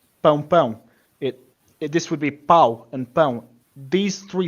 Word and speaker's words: pau: how to listen to them, differentiate them, and pronounce them properly. So starting at the top here, we have pau and pão.